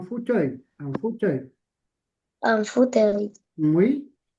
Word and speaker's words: fauteuil: On dit pas un fauteuil. Non, on dit un fauteuil.